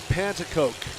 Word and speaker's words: Pantacoke: Jason Pantacoke is how you pronounce it.